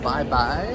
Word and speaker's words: Babae: It's called Bye Bye. It's spelled Babae.